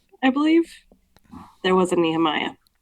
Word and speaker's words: Nehemia: Can you tell us how you pronounce Nehemia? Yeah. Her name is Nehemiah.